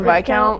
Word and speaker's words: Viscount: the Viscount.